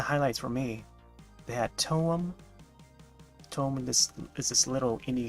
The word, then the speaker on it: TOEM: It's spelled T-O-E-M, Toem.